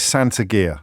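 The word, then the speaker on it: Saint Agur: Best way to do it is Santa gear. So think of Santa gear, like a sack and some boots, Santa gear. So it's not a gear, it's Santa gear, the cheese that I'm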